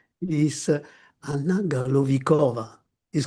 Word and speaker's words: Galovichova: Sorry She if it's pronounced. is Anna Galovikova.